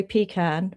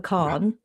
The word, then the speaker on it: pecan: Well, down south, you'll get told off if you say pecan, but it's Right. pecan. Yes. The Southerners say pecan, but in New York, we do say pecan Good, pie.